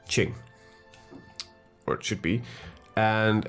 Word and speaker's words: Qing: I was making several pronunciation errors. Please forgive me. So it's Qing.